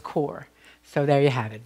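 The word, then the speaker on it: Kaur: of our name is k-a-u-r um and i pronounced the cowar last week and i i've been informed by more than one person that it's core so there you have it valerie core varicor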